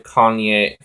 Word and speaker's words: cognac: It's a cognac. Wait, hold on. Cognac. That's cognac. That's how you say it.